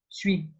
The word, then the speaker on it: suis: And here we want to memorize to be, which is suis. And suis and sit sounds a bit similar.